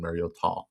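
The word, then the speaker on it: Mariota: 50 times like Marcus Mayor did last week against the Minnesota defense? I It just depends on what I should say. Mario, it's Mario. That's the the proper pronunciation. Marota.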